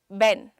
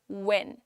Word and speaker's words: when: अगर आप अभी ठीक नहीं बोल पा रहे हैं, जैसे एक होता है बेन, बेन, ये प्रोनाउंसिएशन है, इट्स व्हेन, व्हेन।